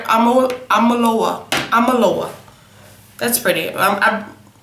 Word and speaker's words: Omolewa: Omolewa.